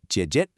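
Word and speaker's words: 姐姐: And finally, jiějie, older sister, which is a third tone followed by a neutral tone.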